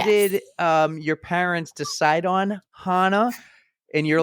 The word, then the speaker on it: Hanna: But Hanna is like German, Icelandic, Swedish, and they will pronounce it like Hanna. And Hannah is a very Americanized version.